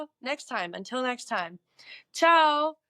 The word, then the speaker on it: tchau: Ciao, which is spelled Tchau, which is interesting.